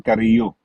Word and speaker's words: Carrillo: para din sa kapakinabangan ng mga viewers natin, sa Spain ho kasi, ang pag-pronounce lang ng double L, naging Y.